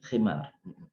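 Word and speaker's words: خمار: Ya gitu ya, khimar. Bacanya pakai kho, sebab pakai kalau ha khimar itu keledai artinya ya.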